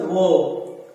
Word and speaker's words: verb: आप इसे वर्ब नहीं बोले, इट is pronounced as वर्ब। आप ए को थोड़ा लॉन्ग कर दें जिससे रे जो है वो उसी ए के अंदर समाहित हो जाए वो।